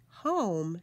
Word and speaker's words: home: three long vowel words we have silent e that touches the Oh to make the o say its name we have the double